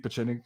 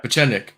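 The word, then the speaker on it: Pieczenik: Pachenik, I think is how you say it.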